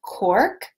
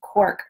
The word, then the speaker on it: quark: But they added something called quark. Am I saying it right? Kind of looks like quack, but with an R, which is a fresh, soft cheese that can be used in sweet and savory dishes.